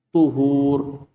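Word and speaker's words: طُهور: Tu. To-nya apa? Didommahkan. Jadi dibacanya tuhur.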